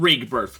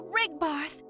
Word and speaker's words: Rigbarth: all the denizens of rig birth which i'm pretty sure is not how it's pronounced because every single time a voice actor said it i repeated it almost confused and offended to the light to rigbarth the frick is a